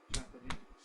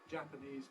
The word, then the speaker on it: Japanese: it's Japanese it's got two beats Japanese and the important point about stress shift is that when we have another word with a stress following immediately afterwards we then tend to alter the balance of power between these two stresses so that the first one sounds stronger than the second one and we get for example Japanese people Japanese people the Japanese language Japanese Customs but yes she's Japanese so it all depends on